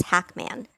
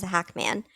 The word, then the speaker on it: Hacmon: I've noticed in a few videos that Moses likes his last name to be pronounced as Hackman. That's just how he always wants it pronounced. He always corrects her and says Hackman.